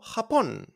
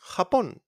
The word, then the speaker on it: Japón: It's pronounced like a h, okay, from your throat. Sounds come from Arabic, okay? So we got jugar, jugar, to play, jugar. We got jardín, jardín, garden, or Japón, Japón.